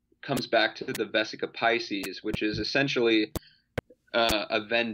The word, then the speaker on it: Piscis: Yeah, I think we've just been saying Pisces. Pisces, you know? Okay. Like, just a normal, it's just spelled differently.